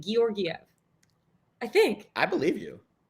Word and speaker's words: Georgiev: I think you pronounce both of the G's, like Georgiev.